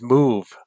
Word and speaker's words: Muve: And then there's Move, and that's spelled MUVE.